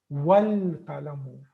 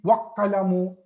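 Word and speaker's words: والقلم: So this was al-qalamu, but when ba came to it, this hamza is not pronounced. Wal qalamu.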